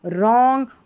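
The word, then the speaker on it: wrong: तो डब्ल्यू आर भी जब भी साथ में रहता है तो यहां पर इसको र पढ़ा जाता है क्योंकि डब्ल्यू साइलेंट होता है। देखिए इसमें राइट रॉन्ग और रेस्ट।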